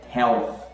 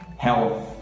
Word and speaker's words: health: Então o TH, o Paulo Guedes tem que treinar, faz que nem no vídeo que eu expliquei aqui, mete essa língua para fora, sopra, porque é health, health.